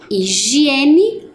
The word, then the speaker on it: higiene: temos a palavra higiene Olha o h no início da palavra lembram que ele não tem som então aonde que ele vai em qual lugar da tabela na pronúncia como na palavra homem higiene homem e a última